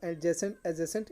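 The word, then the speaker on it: adjacent: और एडजेसेंट इसको डी यहाँ पे हाइड रहता है, मतलब डी हाइड को मतलब डी आपको ये जब बोला जाता है एडजेसेंट नहीं बोलता जाता है, एडजेसेंट टू।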